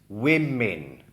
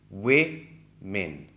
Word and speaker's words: women: The pronunciation of this word that's on your screen right now is women. Not men. No. It's women.